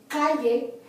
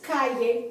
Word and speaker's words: calle: But in this instance, for example, when you have the word street, calle, the accent is on the next to the last syllable, which happens to be the first syllable because it's only two syllables.